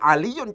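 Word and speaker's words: علي: Ya, jadi aliyun cara bacanya harus ditanwin.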